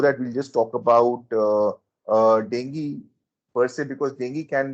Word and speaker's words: dengue: Some people call it dengue, but the pronunciation is dengue, which is caused by the Aedes aegypti mosquito,